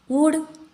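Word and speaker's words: would: आया है silent कुड वुड डी के पहले एल आया यहां पे हो गया साइलेंट शुड यहां पर शुड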